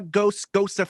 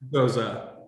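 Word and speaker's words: Gose: I loved it, and now I'm a Gosa fan. Gos or Gosa? How do you go, Corey? Gosa is how I like to pronounce it.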